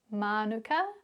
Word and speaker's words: mānuka: Well, what you can see or hear in these examples is both the maui pronunciation piko manuka ki putukawa and the anglicized version kawaii pura